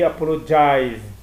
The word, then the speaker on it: apologized: Quando o verbo termina com E, eu acrescento apenas um D, que é apologize, aqui apologized, tá? Pronuncio um Dzinho no final.